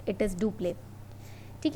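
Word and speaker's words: Dupleix: The term was introduced by, write it down, इसको लिख लो, it was introduced by French Governor General Duplé. Okay, X is silent, it is Duplé.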